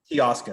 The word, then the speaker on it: Teoscar: Teoscar.